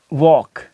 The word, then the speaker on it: walk: ठीक है, अब जिस तरीके से हम पढ़ते हैं कि वॉक, WALK, वॉक, वॉक, चॉक, CHALK, चॉक, चॉक।